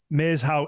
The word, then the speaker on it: Maeshowe: How do I pronounce it properly? I'm awful. Meishao. I'm so bad. Meishao. Meishao is Maeshowe.